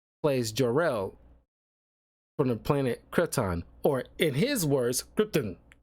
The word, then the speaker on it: Krypton: it's you know symbiot and it's Krypton it's how you pronounce it it's no gray area with that that's why it bothers so many people and so when I hear like him pronouncing gripon it's like that's not how you freaking say it uh God bother me